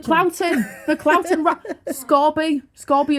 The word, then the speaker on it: Scorby: Scorby is pronounced Scorby. There's no Ellen.